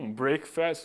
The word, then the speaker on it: breakfast: Breakfast, o que tem a ver?